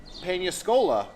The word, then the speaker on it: Peñíscola: for our English speakers you may want to put the emphasis on the wrong cabel pcola so and make sure you have the little wiggly line over the end otherwise somebody's going to